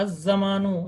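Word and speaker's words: الزمان: अज जमानु, यहाँ अल लाम जो है साइलेंट रहेगा।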